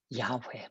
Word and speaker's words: 야훼: 야훼, 본래 발음이에요.